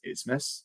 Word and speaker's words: Asmus: Why is it pronounced Asmus?